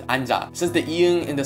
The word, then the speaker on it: 앉아: combined with nyan and chip this word is pronounced I'm job since that you in the second letter is